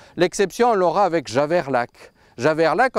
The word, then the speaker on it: Javerlac: Javerlac en occitan, on continue de dire Zavaria, mais en français la prononciation traditionnelle a disparu.